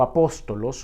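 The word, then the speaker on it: ἀπόστολος: si nosotros vamos a la palabra griega original apóstol y significado se pronuncia en griego apostolos justamente significa un mensajero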